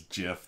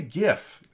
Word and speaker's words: GIF: pronunciation of gif versus jiff that that made me laugh that was you know i i say gif like you know not not jif like the peanut butter but i think i